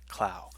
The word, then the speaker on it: Clow: It's pronounced like cloud, but then you drop the D, so it's pronounced Mr. Clow.